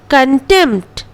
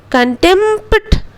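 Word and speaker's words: contempt: अटेम्प्ट, कंटेम्प्ट, कंटेम्प्ट, पी का उच्चारण नहीं करेंगे.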